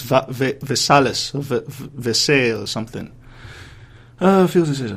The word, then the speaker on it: Versailles: think d ah master thing the order of pronunciation is Versailles yeah anyways going back to dread the article